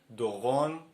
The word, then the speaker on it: Doron: R Or for example try to say my name Doron It can be done even exaggeratedly Do-Ron Emphasize the R.